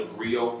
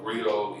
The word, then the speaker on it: griot: am the founder and creative director of the griot project rio is spelled g-r-i-o-t and we are an educational theater